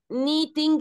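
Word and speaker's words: knitting: في كلمه كمان كلمه ونخلي بالنا ان الكيمه بتتنطقش لان بعديها ان وقلنا اي كي يجي بعديها ان ما بتتنطقش زي كلمه نو يعني يعرف الكلمه بتتنطقش كلمه نايف يعني سكينه ما بتتنطقش الكيه لما بتشوف وراها حرف الان بتنسى هي مين اساسا وما بتتنطقش فكلمه فكلمه فكلمه نيتنج يعني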